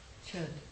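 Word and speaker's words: Chöd: Alioni adopted from the Chud practice. Or Cha practice. Nobody is ever quite satisfied with the pronunciation of that word, but I think it's Cha.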